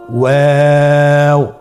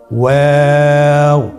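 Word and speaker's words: واو: আমরা স্ক্রিনে দেখতে পাচ্ছি ওয়াও হরফটি উচ্চারণের ক্ষেত্রে বারিক হবে এবং 3 আলিফ টেনে পড়তে হবে। আপনারা আমার সাথে বলুন ওয়াও। ওয়াও।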